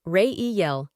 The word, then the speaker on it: Reiyel: Name: Reiyel, pronounced Reiyel.